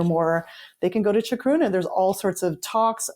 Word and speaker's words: Chacruna: Will you spell that word out for folks who are listening? Yeah. Chacruna.